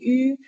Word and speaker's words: yu: If you have problem with it, first you can say e, and that's where your tongue is supposed to be. And it's very important to remember while pronouncing yu, your tongue is not supposed to move. So e, hold your tongue like that, and then shape your lips into a ring.